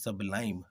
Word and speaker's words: sublime: आवर 16th word is सबलाइम।